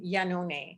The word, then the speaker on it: Iannone: lesson that was great because it's an italian name yanone which is beautiful so